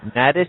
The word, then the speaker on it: nadis: Next one is weaving the nadis. Is that how you pronounce it?